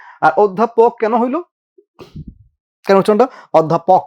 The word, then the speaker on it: অধ্যাপক: কারণ পরপর জফল আছে তো অত্যা যা ছিল আর চার অধ্যাপক এই অপর জফল আছে ওটা ও হবে আর ধটা যেহেতু মহাপ্রাণ